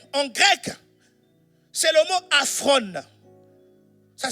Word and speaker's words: aphron: Le mot inconsidéré ici, qui a été utilisé en grec, c'est le mot aphron. Ça s'écrit A-P-H-R-O-N.